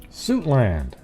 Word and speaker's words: Suitland: here we go so is it suit land or is it pronounced sweet land does anybody know sweet one suit two i just want to make sure i don't know how to pronounce that one wait now i don't even remember which one i said suit land suit land there we go see i just listened